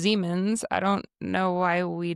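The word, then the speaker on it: Siemens: Uh who you know there's that company Seammens. Yes. Uh, he was German. Okay. So, it's actually pronounced Zemens.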